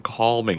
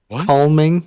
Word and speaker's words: calming: did you just unpurposely pronounce the l in calming calming did you say calming